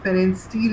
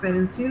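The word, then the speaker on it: Pfannenstiel: So that is called pharyngeal incision. P is silent here.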